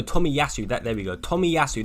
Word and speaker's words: Tomiyasu: yeah there we go tommy yasu that's how you say it so yeah tomiyasu